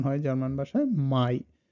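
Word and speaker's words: Mai: উচ্চারণ হয় জার্মান ভাষায় মাই। সো এআই এর উচ্চারণটাও হলো আপনার আয়ের মতো, মানে প্রথম যুক্তবর্ণটার মতোই সেম।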